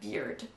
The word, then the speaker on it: beard: Bear et beard. Donc c'est comme la bière, mais on rajoute le D en plus. Beard. And the E becomes a long E and not an A.